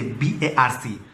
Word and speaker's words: BARC: over prawns the word bark never said the word bark always say BARC pronouncing bark is a very strong impression creates a very dogged impression so they started with